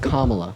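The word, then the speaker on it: Kamala: that should tell you everything you need it's pronounced kamla say her name Harris hey Harris Miss Harris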